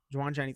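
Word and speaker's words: Jauan Jennings: Joan Jennings. Yes, Jawan Jennings.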